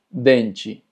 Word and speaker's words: dente: Y es que cuando las palabras terminan en TE, normalmente TE se pronuncia como chi. Por poner algunos ejemplos, limite, combate, chocolate, dente. Como puedes ver, cuando una palabra termina en TE es chi.